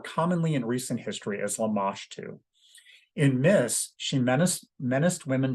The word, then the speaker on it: Lamashtu: There's also a goddess demon named Lamashtu, used to be called Labartu, but they realized that they were pronouncing it wrong. It's actually Lamashtu.